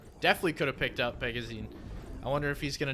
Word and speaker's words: Phzin: My Brazilian counterparts told me that in American English, Phzin is fine, but Phzin is the proper pronunciation.